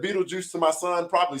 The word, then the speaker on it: Beetlejuice: I don't even know what it says, So just for everybody knowing it, when you read it, it is pronounced Beetlejuice.